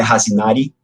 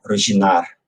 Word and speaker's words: Răşinari: Para quem se interessa por pronúncia, é uma coisa interessante da língua romena, que muitas das letras I, sobretudo em final de palavras, a palavra escreve com I, mas o I não sai na pronúncia, como, por exemplo, o nome da cidade onde Turan nasceu, né? Então, não é Razinari, mas é Hradinar.